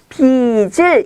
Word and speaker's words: 빚을: 빚을 안고, 자, 여기서 빚을은 발음을 앞에 지읒 받침이 뒤로 가서 빚을 이렇게 발음하셔야 돼요.